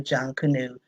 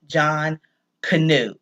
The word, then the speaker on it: Junkanoo: day is called the Jun canoe parade now John Cano is just like the man's name j o h n John Cano and you pronounce John Cano you pronounce it all together and folklore says that